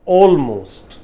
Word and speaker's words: almost: Almost.